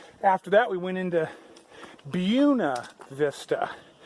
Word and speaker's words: Buena Vista: that we went into Buena Vista I was mispronouncing it it's not Buena the locals call it buena vista went in there and